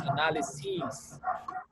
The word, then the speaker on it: analyses: To make them plural, you change the pronunciation of the last syllable into the long E So the plural of analysis is analyses.